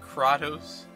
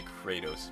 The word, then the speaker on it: Kratos: chosen ones level - how did he say his name is pronounced crotteaus magic Kratos he that's what I like I know I thought almost made a joke about that when he said his name but he didn't say Kratos but it is I'm pretty sure it's spelled the same way do I have stuffers